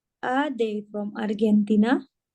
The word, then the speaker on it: Argentina: Are they from Argentina? Argentina. Karena G itu dibaca J.